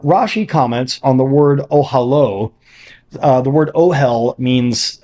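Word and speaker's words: אהלה: comments on the word ohalo uh the word ohal means uh tent so ohalo means his tent which is pronounced consistent with its usual spelling as if the last letter were the letter VAV in Hebrew the masculine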